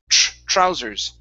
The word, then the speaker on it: trousers: I think you were pronouncing that like a, or sorry, it was the T. You were pronouncing it like a TH.